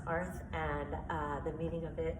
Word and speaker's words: Artha: The meaning of ARTH, in Sanskrit, it's actually pronounced ARTH, and the meaning of